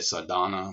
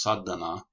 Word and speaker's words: sadhana: up here uh called sadhana um the accents on the the front end of the turn sometimes people say sadhana which that's okay but it's pronounced sadhana and this is a